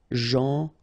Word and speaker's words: gentil: So it's a strange one because here this final L is not pronounced. Okay? Gentil.